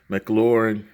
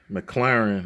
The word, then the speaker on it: McLaren: to get this uh mclaurin mclaren always mispronounced that mclaren 720 s which